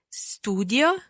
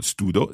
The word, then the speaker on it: studio: Studio, studi, studia. Studiamo, studiate, studiano. So notice that the I sound stays in there in each verb, each part of the conjugation. Studio, it's not studo, studio.